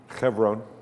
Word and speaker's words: Hebron: How was that pronounced? Hebron? Chevron.